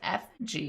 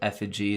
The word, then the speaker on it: effigy: effigy of a duck i know it's pronounced effigy it's just not as fun effigy that is your